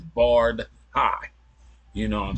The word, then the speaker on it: Bardhi: on how it's pronounced from my understanding is barred High you know what I'm